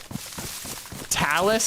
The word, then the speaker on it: Tails: Talis is how we say it, but it's spelled like Tails.